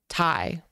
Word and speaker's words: Thai: saying Tai when um how do you say Thailand thailanders taii just taii yeah just Tai yeah what would the